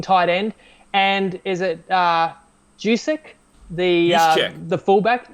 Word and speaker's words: Juszczyk: And is it Jusic? The fullback, Juszczyk, right? I think it's pronounced with a Y. Anyway, Juszczyk, who's a great blocking fullback who missed part of the season.